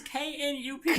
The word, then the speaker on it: Knup: It's K-N-U-P. Knup. It's like you mix Nope and Not together.